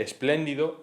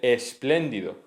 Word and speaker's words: espléndido: En vez de espléndido, está mal. Se dice espléndido, sin el sonido K, no se dice con